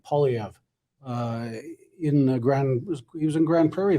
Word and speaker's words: Poilievre: Poilievre is making some pretty big promises too, and conservatives, at least in significant numbers, are believing what he has to say.